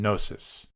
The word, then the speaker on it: gnosis: And we have to pay attention to the words that have a silent G, like Gnosticism and gnosis, okay? There's a reason that it's silent.